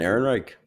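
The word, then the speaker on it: Ehrenreich: Alden Aaron Reich.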